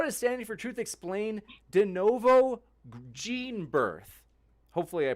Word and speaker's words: de novo: they said how does standing for truth explain denovo gene birth hopefully I pronounced that right is it de novo yeah de novo gene synthesis see once again